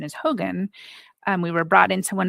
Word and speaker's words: hogan: we were brought into, I believe the proper pronunciation is Hogan.